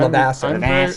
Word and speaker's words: Levasseur: French Canadian like myself, we don't actually pronounce the names like they're French, except if you're Glenn Ouellette. So I just call him Levasseur.